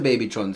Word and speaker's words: Babytron: Yeah, Big Sean and Babytron.